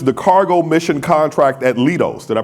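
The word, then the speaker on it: Leidos: So sitting beside me is Ernest Sanchez, who manages the cargo mission contract at Lidos. Did I pronounce that correctly? Lidos.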